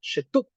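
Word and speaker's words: שטות: una palabra hebrea llamada Shtut, Shetut, ¿cierto? Que sale de Shittim, Shetut. Coloco la E porque la E no debería pronunciarse, pero la coloco para que ustedes puedan pronunciarla Shetut, ¿cierto?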